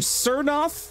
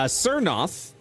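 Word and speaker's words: Tsernoth: yep a necromancer named cernoth the t is silent t-s-e-r-n-o-t-h a cernos from the city of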